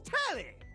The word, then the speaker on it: Telly: The name's Telly. Rhymes with Nelly, like...